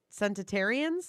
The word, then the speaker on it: centenarian: Well, I'll tell you what, if you guys like centenarians, what's the word?